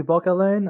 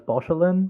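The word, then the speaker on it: Bauchelain: Yeah, I think it's supposed to be Bockelin. I always read it as Beauchelin. Oh. And I was very surprised with learning it's not actually, it's just pronounced the K.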